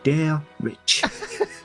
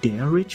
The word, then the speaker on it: Derich: you say my name try saying dare Rich Kitty can you say d Rich for me please I love when you say my name Kitty it is deadish 15 days ago we